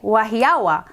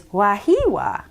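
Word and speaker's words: Wahiawā: Because it looks like Wahiawa, but I looked it up, and the pronunciation is Wahiwa.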